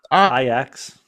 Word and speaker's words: Ajax: Spelled Ajax, but it's pronounced Ajax.